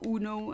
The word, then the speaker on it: Uno: One card game that I sometimes play is Uno, or Uno as I would pronounce it.